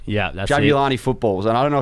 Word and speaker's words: Jabulani: and that was the jab I'm hope I pronounced this right jabulani yeah julani footballs and I don't know if you remember